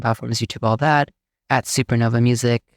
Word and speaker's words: SuperKnova: YouTube, all that, at SuperKnova Music, spelled SuperKnova. There's a silent K in front of the N in Nova, at SuperKnova Music on all the platforms.